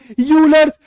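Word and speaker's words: Euler: का नाम रख दिया यूलर्स फॉर्मूला। ई मत प्रोनाउंस करना, ठीक है, ई इज साइलेंट।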